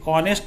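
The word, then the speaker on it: honest: वहीं second example इसी का है, एन ऑनेस्ट मैन, इसको भी ऑनेस्ट हम कहते हैं, हानेस्ट नहीं बोलते।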